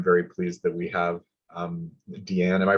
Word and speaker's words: Deanne: And I'm very pleased that we have Deanne. Am I pronouncing your name right? Is it Deanne?